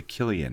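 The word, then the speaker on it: Cillian: But his name starts with a C. It's Killian. Why would you say Killian? Yeah. Oh, my God. That is so stupid. Anyway, all written by... Why wouldn't you name him with a K? Then? He's Irish, okay? So if you see the word C-I-L-L, kill.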